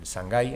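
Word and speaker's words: Shanghai: se ordenó en China en sangai en sanai como pronuncian allí fue canonizado en 1984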